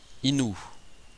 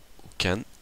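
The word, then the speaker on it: 犬: là, qui comporte 11 traits, qui peut être prononcé neko, byo ou myo. Inu comporte 4 traits, peut être prononcé inu ou ken.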